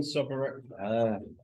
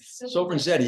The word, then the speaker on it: Sopranzetti: Sopranzetti, you gotta go like Sopranzetti.